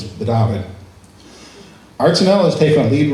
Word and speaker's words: Petapan: The symposium is called Dabinett and First Light. Even though it says it's spelled Petapan and it's in the Mi'kmaq language, the P's are B's, so it's Dabinett.